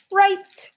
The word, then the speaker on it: right: Notice this word has I-G-H that gives it the long I sound.